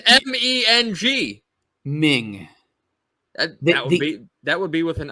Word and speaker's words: Meng: the way it's pronounced it's spelled m-e-n-g but it's Ming not mang but anyways compare them